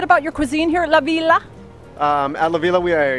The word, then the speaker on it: La Villa: and I've been schooled as to how to pronounce it Adriano yes it's called lavila Laila and here we are with Chef Chris O'Donnell Chef can you tell us a little bit about your Cuisine here at lavila um at lavila we are a farmed table